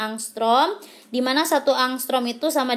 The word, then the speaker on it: angstrom: ini ya angstrom ini Ini bacanya angstroms dimana satu angstrom itu